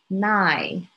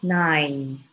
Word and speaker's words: nine: Another one, nine. I hear a lot of people pronouncing it as nigh, nigh. It should be nine.